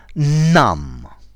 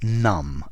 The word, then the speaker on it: numb: hi there students numb notice the B is silent numb an adjective numbly the